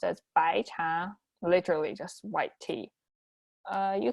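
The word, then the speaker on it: 白茶: And for white tea, which is pronounced as 白茶, literally just white tea, you can see it's very easy.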